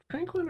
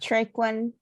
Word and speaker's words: Traquin: You step inside, you see a couple of was it Tranquin or Traquin? Let me just take a look here. Traquin. Traquin. I think is how it's spelled.